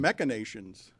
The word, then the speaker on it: machinations: machinations. Never heard of it. That's nuts. You don't I know. always thought it was MASH with an SH sound, even though it's spelled CH.